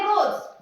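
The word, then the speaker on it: rose: बघा हे स्पेलिंग आहे रोज. ओ आणि ई हे 2 स्वर आहेत, त्याच्यामध्ये यस आलेला आहे, त्याचा उच्चार झाला रोज ज रोज.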